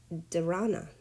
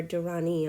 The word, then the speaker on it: dharana: with physical posture, and that is dharana, or dharani. I'm not really sure how to pronounce it, but I think it's dharana.